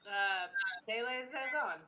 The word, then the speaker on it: saison: Pronounce it again. Saison.